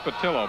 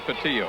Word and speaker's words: Patillo: That is pronounced Patillo, by the way, not Patillo.